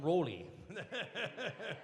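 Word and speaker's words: Rawly: And those are two words that should be pronounced differently because he spells his name R-A-W-L-Y, but we still call him Raleigh.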